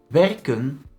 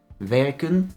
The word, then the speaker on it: werken: Werken becomes werk. Werken is a short vowel infinitive. The E is pronounced short in both the infinitive verb and the stem.